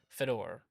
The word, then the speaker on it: Fedor: and clasp them harmoniously for the wonderful Bobby Fedor did I say it correctly you said it